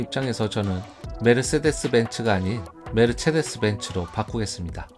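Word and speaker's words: Mercedes: 우리나라에선 메르세데스 벤츠라고 표기합니다. 벤츠는 독일어죠. 그럼 메르세데스도 독일어일까요? 아닙니다. 독일어에서 C는 체로 발음합니다. 메르세데스가 아니고 메르체데스입니다. 원론적인 걸 좋아하는 입장에서 저는 메르세데스 벤츠가 아닌 메르체데스 벤츠로 바꾸겠습니다.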